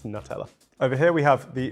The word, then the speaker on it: Nutella: I pronounce it Nutella. Some people say Nutella. Who says Nutella? I've definitely... Do Americans say Nutella? Do you guys say Nutella? That's horrible. Please don't do that. It's Nutella.